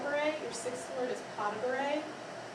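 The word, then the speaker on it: pas de bourrée: is a powder break your 6th Lord is pas de bourree pas de Bouree Bouree and this is very small steps and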